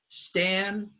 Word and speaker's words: standing: The first syllable is stand, and it's stressed, standing. And so the stressed sound takes the short A, but it's in front of the N, so the changes to in the nose, standing.